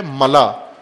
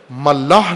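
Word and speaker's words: ملأ: کی وضاحت کی ہے، ملا، یہاں بھی کی ہے، ملا، ملاح نہیں ہے، غلط تلفظ کرتے ہیں بعض، ملا، میم لام الف حمزہ، ملا حمزہ کے ساتھ، خلا جس طرح کہتے ہیں،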